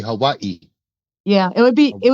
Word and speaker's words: Hawaii: You got to say it correctly. Hawaii.